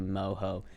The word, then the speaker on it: mojo: and you should thank me moho oh there's not a chance in hell I'm ever gonna say moho uh if I ever ordered pork Mojo I'm